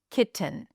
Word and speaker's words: kitten: Let's take the word kitten, or I'll say it fully, kitten. So, we have a ki syllable, and then we have t uh n. The vowel between the T and the N is a reduced vowel. It's a schwa.